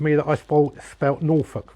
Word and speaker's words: Norfolk: that I spoke about Norfolk wrong it should be n-o-r-f-o-l-k as in folk nor folk but everybody around here pronounces it Norfolk Fork so that's why I